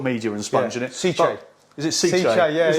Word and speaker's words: cichlid: I've been saying it wrong all these years. So have I. They Italian, sent me it ages ago and they say, oh, you're pronouncing it wrong. It's Cichlid. Yeah.